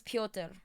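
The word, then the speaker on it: Пётр: It's pronounced as Piotr. Okay. Like my mod, Piotr.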